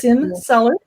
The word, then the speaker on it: Sin Cellar: It is Sin Cellar, pronounced like you're sinning.